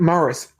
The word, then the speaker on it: Morris: I think you mispronounced the guy's name at the beginning. Jack Morris? He said Jack Maris the first time.